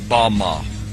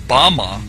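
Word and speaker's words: בָּמָה: is Strongs Hebrew word 1 1 1 6 pronounced ba ma ba ma is most commonly used to refer to a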